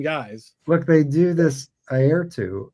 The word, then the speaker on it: Airto: Look, they do this Airto. Is that how you pronounce his name? Yeah, eye, ear, toe.